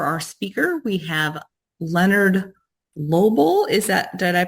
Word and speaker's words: Lobel: And today for our speaker, we have Leonard Lobel. Did I pronounce it right? Lobel.